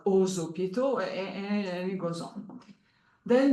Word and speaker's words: aux hôpitaux: The X is pronounced like a Z, like aux hôpitaux, and it goes on.